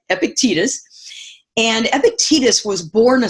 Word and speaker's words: Epictetus: and I loved this Epictetus I believe is the way we say his name Epictetus and Epictetus was born